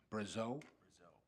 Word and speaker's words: Brazeau: I believe it's Brazeau. All right, so I would have, and so in the mayor's defense, I slaughtered it too, so.